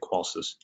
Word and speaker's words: Qolsys: So Qolsys, it stands Quality of Life Systems, the SYS, and that's how you say it, Qolsys.